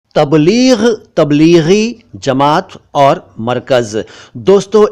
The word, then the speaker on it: तबलीग: सबसे पहले तबलीग, तबलीग नहीं तबलीग, ये अरबी भाषा से उर्दू में आया।